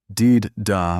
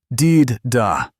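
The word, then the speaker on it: Dydh da: No, no, listen. Deed da. The dh is like the the in this deed da.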